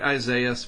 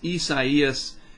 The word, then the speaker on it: Isaias: It looks like Isaias, but it's not. It's Isaias, and here's the public advisory on it.